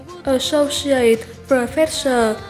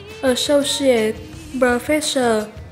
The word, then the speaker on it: Associate Professor: Từ số 3 là cụm danh từ Associate Professor hoặc Associate Professor, có nghĩa là phó giáo sư. Mình xin được đọc lại hai cách đọc của từ này là Associate Professor và Associate Professor.